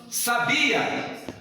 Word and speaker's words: sabia: Sabia, está no bi, a sílaba tônica.